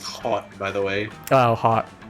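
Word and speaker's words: haute: get people to give you money you suggest pronounced hot by the way oh hot all right french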